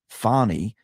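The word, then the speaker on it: Fani: one prosecutor engaged by Fanny pronounced fonnie Willis to persecute Trump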